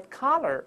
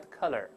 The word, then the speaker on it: collar: 注意 white collar 而不是 white color，那成白颜色的了啊！